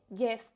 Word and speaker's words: Gef: le dijo Jeff, simplemente Jeff, que realmente es que lo escriben G-E-F, pero bueno, se pronuncia como Jeff.